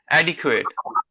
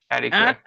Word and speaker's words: adequate: and and the stress is on the first syllable.